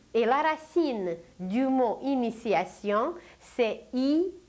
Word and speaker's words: initiation: mais nous parlons de initiation où un T se prononce comme un C mais en réalité il s'agit d'un T et la racine du mot initiation c'est i t I